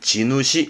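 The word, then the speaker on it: 地主: 근데 우리는 지주라고 발음하지만 일본 친구들은 땅 주인. 그래서 발음은 지누시 합니다. 땅 주인 지누시.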